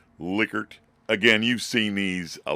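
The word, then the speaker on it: Likert: is the liquer scale I believe the guy was German that invented it and that's the way it's pronounced liquer again you've seen these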